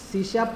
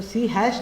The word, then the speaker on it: C#: Okay, सो basically introduction पढ़ते हैं कि सी शार्प को सी शार्प कैसे कहते हैं, क्यों कहते हैं। तो सी हैश नहीं कहना है उसको, कभी उसको प्रोनाउंस करो तो आप सी शार्प ही प्रोनाउंस करना है।